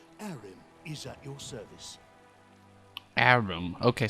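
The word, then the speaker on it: Harrim: Arim. Okay, so the H is silent. Arim.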